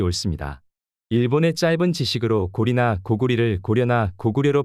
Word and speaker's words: 고구려: 것은 당연한 일입니다 고려나 고구려 할 때 쓰는 여예 한자를 고울려 또는 나라 이름 리로습니다 네이버 한자 사전을 보시겠습니다 나라 이름을 말할 때는 리로 발음을 해야 하고 동네 이름을 말할 때는 여로 발음해야 하는 것이 맞다고 생각됩니다 사전에도